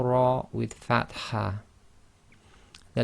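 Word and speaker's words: ر: So the letter ra with a fatha is pronounced ra. You cannot say ra, and you would hear this in the word rub. Rub. You cannot say my rab, you say my rub.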